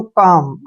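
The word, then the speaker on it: calm: ए एल एम इसको हम पढ़ते हैं दोस्तों काम ठीक है ना नेक्स्ट वर्ड है एस ए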